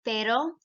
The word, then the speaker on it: pero: You do not roll every single R in the Spanish language. So for example, like I just said, pero, that's the conjunction but, P-E-R-O, but the word for dog is perro, perro.